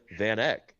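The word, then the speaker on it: VanEck: VanC. How do you spell it?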